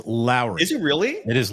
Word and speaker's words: Lauri: it's not L it's Lowry is it really it is Lowry Marin like Mike Lowry from the Bad Boys movie it's like Lowry Lowry